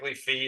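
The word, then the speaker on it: phi: P 5 yep and I think specific Fe is the more correct pronunciation but I still call it f okay how about Omega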